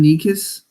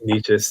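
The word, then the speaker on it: Nečas: you have Martin ni how do you pronounce this name Martin nikis I niches I always mess this up it's niches you were you were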